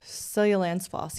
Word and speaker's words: Seljalandsfoss: I think when we went, I remember Googling it and it's like Seljalandsfoss. Seljalandsfoss. Yeah, they pronounce their J's like Y's.